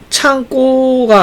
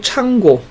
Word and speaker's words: 창고: 창고가 아니고 창고.